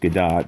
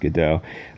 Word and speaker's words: Gadot: so um gal gadot i know it's pronounced gadot but it should be pronounced godot um i kind of